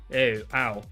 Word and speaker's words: ui: It's ui but you pronounce it as like ow ow whatever.